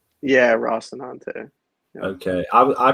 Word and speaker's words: Rocinante: Yeah, Rocinante. Yeah. Okay, I pronounced it wrong for a long time.